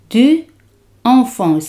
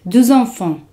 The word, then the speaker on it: deux enfants: En francés se dice deux enfants. Se hace la liaison. X se pronuncia como Z. Deux enfants.